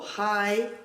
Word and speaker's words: high: La novena regla es que cuando aparecen las letras GH detrás de una I, serán mudas, como high o sigh.